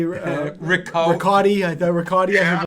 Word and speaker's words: Richotte: Well, they were calling you like Ricochet. Yeah, Ricochet. Richotte. I thought Richotte I heard once. Yeah. Rico. Like, how does Rico. Richotte.